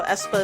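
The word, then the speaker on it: aespa: Drama by Esa so Esa is spelled a e p a i don't know if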